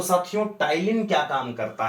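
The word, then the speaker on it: ptyalin: तो ध्यान में रखो, जैसे टाइलिन है, पी साइलेंट है, समझ गए।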